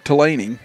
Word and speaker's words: Tillaney: Again, not pronounced like it looks. Again, talked to the manager, Tony Delaney, before things started, and he even said, yeah, it doesn't sound anything like what it looks like.